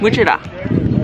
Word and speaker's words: Mul-Chu-Tha: Oh, also it's called a Mul-Chu-Tha. Mul-Chu-Tha. I think that's how she's pronounced it, but that's how you pronounce it.